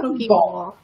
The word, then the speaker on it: poke bowl: Oh, Morgan says it's pronounced poke bowl. That kind of makes sense. Like a sushi bowl.